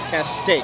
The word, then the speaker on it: Castaic: Castaic, saying it right.